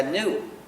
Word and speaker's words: gnu: porque según el diccionario la g es muda y la palabra se pronuncia nu como nuevo entonces cada vez que